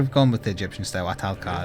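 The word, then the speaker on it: Ahtal-Ka: Atalka is how you pronounce it.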